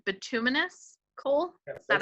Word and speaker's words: bituminous: And this is, if I'm not mistaken, please correct my pronunciation, bituminous coal?